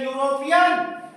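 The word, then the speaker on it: European: है इसलिए हम लगाए इसी तरीके से यूरोपियन डॉक्ट ल इ यूरोपियन य पर ए लगेगा क्योंकि यूरोपियन य से उच्चारण हुआ यूरोपियन इसके कुछ अपवाद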